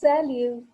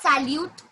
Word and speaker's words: salut: Okay, it's salut. Yes, it's not salute, it's salut. Okay, it's salut. T will be silent. T is silent.